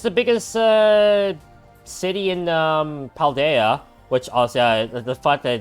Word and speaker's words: Paldea: So, that is quite funny that it's pronounced Paldea.